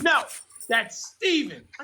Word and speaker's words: Stephen: s t p Heen and I pronounced it phonetically Stephan and he said no that's Stephen I said what the hell you talking about